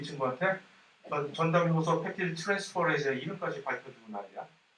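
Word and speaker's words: peptidyl transferase: 그래서 이것은 이 전담 효소가, 펩티드 결합을 수행하는 전담 효소의 이름이 뭐라고 읽을까 이거? 펩티드 트랜스포레이즈라고 하죠. 펩티드 트랜스포레이즈인데, 왜 쓸데없이 여태까지 글리코시드 링크랑 에스터 결합을 얘기할 때 전담 효소에 관해서 우리가 언급한 적 없잖아요.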